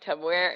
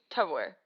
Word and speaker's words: Tupperware: It's Tupperware. No, the first syllable. Tub. Wrong. I say tub, and I will not change it. Too.